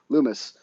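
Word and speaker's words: Lummis: Lum Lum Lumis.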